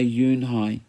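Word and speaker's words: Unhei: Kim then turned to Joey she nodded slowly yes it's pronounced Eun Hye and it means grace mr.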